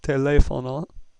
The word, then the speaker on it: teléfono: The next one's very easy because it has a written accent mark. Therefore, the stress must be on that syllable. Teléfono.